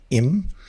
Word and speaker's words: 임: And so this is the the hungul is pronounced im and it has five strokes.